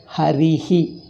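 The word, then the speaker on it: हरिः: When Visarga follows E, you pronounce it as Harihi.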